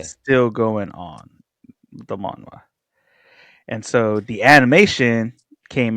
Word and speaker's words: manhwa: It's pronounced just the same as Korean manhwa, but Hmm. I guess it's just they're using different characters, and in English version it's spelled a little different, but its pronunciation is the same.